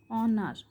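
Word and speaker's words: honour: এল ই এন T silent letter তো এইচ এর উদাহরণ হলো এইচ ও এন ও ইউ আর অনার অনার মানে সম্মান করা।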